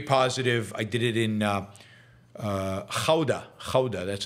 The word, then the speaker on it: Gouda: I did it in Gouda, that's how you pronounce it, in the Netherlands.